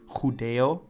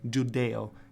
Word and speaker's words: Judeo: In Spanish, the ch has two values in Ladino, like a j rather than being ch. So in the word Judeo in Spanish becomes Judeo in Ladino.